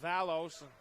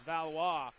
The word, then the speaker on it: Valois: I said Valos. I knew I butchered that name. It's Valois.